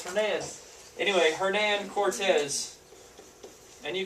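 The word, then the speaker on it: Hernán: and my my students are always like it's herman i don't like no it's not it's hernan anyway hernan cortez and you can spell this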